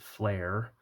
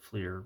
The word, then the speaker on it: Fleer: For those of you who call Fleer, who pronounce it Flare, uh, part of the reason people my age don't is because Fleer. Well, I always called it Fleer, but then eventually in